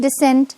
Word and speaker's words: descent: we can say so there's a slight difference in pronunciation decent and descent Descent of the hill